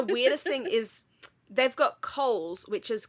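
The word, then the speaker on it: Kohl's: And then the weirdest thing is they've got Coohl's which is K O H L S. Oh yeah. But it's pronounced the same as our Coohl's which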